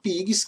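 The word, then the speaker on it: PIIGS: Nós temos PIGs, que é um acrônimo, ou seja, a fonética é a mesma fonética quando você pronuncia com os dois Is e quando você pronuncia com um I só.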